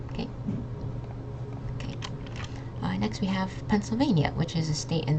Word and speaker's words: Pennsylvania: So this double N is just the N sound, and then this SYL sound might be a little tricky. It's just pencil, like the word pencil, the thing you write with.